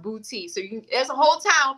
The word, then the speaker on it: Boutte: or you go to, now the town is pronounced Boutte. So there's no accent on the E or whatever. It's pronounced Boutte. So there's a whole town called Boutte, Louisiana, baby.